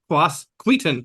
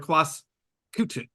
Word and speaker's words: Quasqueton: It can be pronounced two ways, I've been told. Quasqueton. Oh, you were right. Or Quasqueton. Nice. Queton. Both are okay.